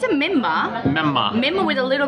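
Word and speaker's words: menma: It's a memma.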